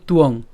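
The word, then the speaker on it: ত্বং: আর এটাকে যদি আমরা ভেঙে উচ্চারণ করতে যাই তাহলে তার উচ্চারণটা আমরা এভাবে করতে পারি, তথাপিত, অর্থাৎ ত হসন্ত পর্যন্ত উচ্চারণ করতে পারি, তথাপিত। কেন? কারণ এখানে যে আমাদের নিচে যে কি আছে? অন্তস্থ ব আছে, তার উচ্চারণ কার মতো হবে? উও হবে।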